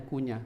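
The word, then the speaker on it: كنية: Kalau kunyah ini jangan salah baca ngih. Kalau enggak bisa. Kalau ini bacanya kunyah. Kunyah. Kunyah.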